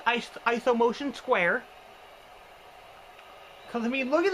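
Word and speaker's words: IsoMotion²: They call it ISO motion square, which looks like ISO motion 2, but it's pronounced ISO motion square.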